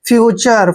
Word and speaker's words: future: देखिए FU का उच्चारण क्या करते हैं, फ्यू, फ्यू करेंगे, और TURE जब भी इकट्ठा आता है इसको हमने चार पढ़ना है, फ्यूचर।